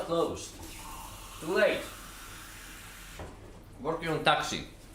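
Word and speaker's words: Tacsy: And it's not spelled like that, it's spelled T-A-C-S-Y. This is taxi.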